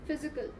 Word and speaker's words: physical: Next is physical. Physical. Right. Silent. No, P is not silent. Physical. PH will be pronounced as F.